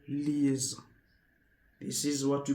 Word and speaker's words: les: Then the last one, the last D is le as if you want to smile. You see le is not less.